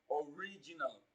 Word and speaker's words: original: Now when you look at original, the stress falls on the second syllable. It falls on the second syllable from the beginning of the word. Original. But if you are counting from the end of the word, it falls on the third syllable.